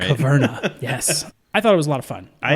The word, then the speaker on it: Caverna: Yeah, make sure you get the pronunciation right. Caverna, yes.